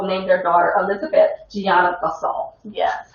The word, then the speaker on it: Gasol: Is it Gasol? Is that how you say it? Yes, that's how you say it. Paul Gasol.